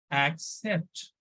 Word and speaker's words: accept: are discussing here except look at correct pronunciation it is accept right so we need to emphasize on this level act then set accept okay so meaning of